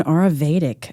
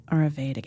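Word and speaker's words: Ayurvedic: It was an Auravedic retreat. Oh, it was delightful. Oh, it was it was Spell that for us.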